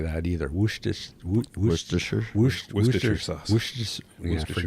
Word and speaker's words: Worcestershire: So nobody in Worcester says Worcestershire. Now, if you live in the States, you probably would say Worcestershire. But it's Worcester or Worcestershire sauce. Worcestershire sauce.